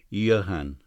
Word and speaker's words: Johann: Mr. Brewster gave the name its Germanic pronunciation, Johann.